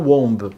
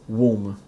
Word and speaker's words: womb: Womb, not womb, okay? The pronunciation is womb.